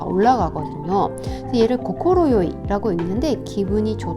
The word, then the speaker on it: 快い: 먼저 뜻으로이 아이를 읽을 때는요. 발음이 고코로요이라고 읽는데 이게 따로따로 읽히잖아요.